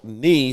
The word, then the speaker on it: knee: Well, if you don't know that knee is spelled with a K, knee sounds like Ne.